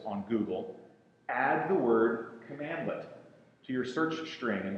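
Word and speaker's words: cmdlet: what category are they it's a cmdl commandlet is how it's pronounced that word was invented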